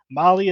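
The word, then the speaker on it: Mahle: of our podcast listeners Molly is spelled m ahle e all right tell tell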